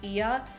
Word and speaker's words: Oia: Then the bus took us to Ia, which is it's spelled like Oya, but it's pronounced Ia, which is where you see the iconic blue domed churches.